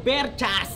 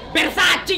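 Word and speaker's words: Versace: Baka pwedeng maki-spray sa pabango mong berchas. Bersachi yun tanga.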